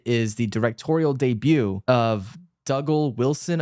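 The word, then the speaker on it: Dougal Wilson: the directorial debut of dougle Wilson I think is how you pronounce his name it still stars all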